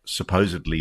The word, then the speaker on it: supposedly: Wait, did he just say supposedly with a B? Supposedly leaked. Oh, wait, hold on. shown in that supposedly leaked. No, he said it right. He said D-L-Y.